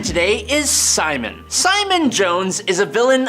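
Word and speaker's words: Psimon: All of that, but he basically just calls himself Simon, but cool because there's a silent P in front of it, so we all know that he has psychic powers.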